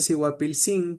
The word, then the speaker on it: Siguapilcín: qué zona es, pero si usted dice Siguapilcín en Santo Domingo de Guzmán con acento en la última I, está hablando de una lesbiana joven, ¿sí?